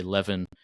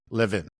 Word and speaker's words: Levin: uh there's there are a lot of people who spell their name the same way I do and say Levan. Uh and it's okay for them to be wrong, but they are wrong.